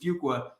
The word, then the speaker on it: Fuqua: is one that says you could think of it as one qu two qua three qua a few qua um kind of a